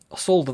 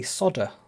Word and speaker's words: solder: potatoes, is because in the US you say solder, not solder. So I find this fascinating. I wonder where that difference came from. There's like a silent L.